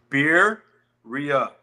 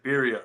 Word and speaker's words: birria: So all of them were teaching me how to say it, and they're like, "It's beer, ria. That's all it is, birria."